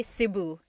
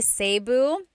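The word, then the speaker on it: Cebu: that the guy alphabet the letter e can be pronounced e or E like the letter I so I say siuu and I know some people say seu but usually it's either SIU or sebu good question all right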